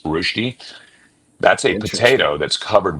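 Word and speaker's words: Rösti: hash brown actually is a Swiss rosty or rushi r o s t i with an umlau over the o to pronounce rushi.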